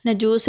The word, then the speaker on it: نجاشی: اور کسریٰ کہلاتے تھے، افریقی زبان میں نجاشی کا تلفظ نجوس ہے اور اس کا